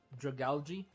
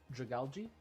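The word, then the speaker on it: Dragalge: Dragali. Mhm. It's like you're saying dragon, but you stop at drag and then the word algae because that's literally what he is. Algae. Drag algae.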